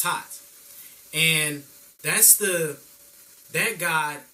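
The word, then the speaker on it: Thoth: God taught or looks like thought but it's pronounced taught and that's the that God is the moon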